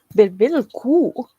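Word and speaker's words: bIvIlqu': Bevil cool. Remember the qaghwl at the end. You got to cut off that U sound very quickly.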